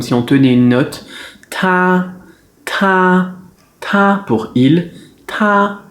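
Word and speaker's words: 他: tā Alors la prononciation elle est simple que ce soit pour IL ou pour ELLE c'est la même prononciation On a "t" et "a" Le "t" c'est un "t" expiré. Donc en français c'est un "t" mais on le soufle "te" "te" "te" Et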